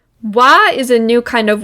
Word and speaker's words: は: We write the particle wa with the hiragana ha instead of wa.